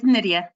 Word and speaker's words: Nydia: It's Nydia, just like Lydia with an N.